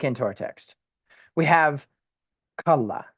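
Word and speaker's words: כלה: And actually, we'll say kal la, not kalala. Which the way that I could explain this is there's two lameds, but you pronounce the first part kal and the second part la with no no vowel in between. So it's kalla, okay? And you put emphasis on the last syllable, kalla, okay?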